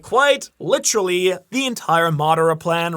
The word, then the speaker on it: Madara: And it's also, like, quite literally the entire Madara plan, right? Like Madara or whatever you want to call him. In Japanese, it's Madara.